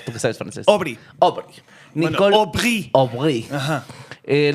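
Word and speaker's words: Obry: Eh, me habías dicho cómo se pronunciaba, pero se me olvidó. Tú que sabes, francés. Obri. Obri.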